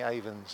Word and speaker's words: Avon: we have so many Avons in England and Wales and Scotland. And pronounced Avon, even though it's spelt A-V-O-N. It is not. We're not selling lipstick here.